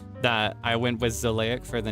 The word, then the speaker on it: Xileak: I felt that if you reverse it like Alukard's name and pronounce it in a very specific way, it does sound very vampire-like, right? Zleic.